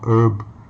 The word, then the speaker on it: ERB: so Elizabeth Rose Bloodflame, also known as ERB or Herb. I guess it rhymes with the herbs, you know, like in Chinese, you know, 草药花草, in English, you know, those flavorful plants, right?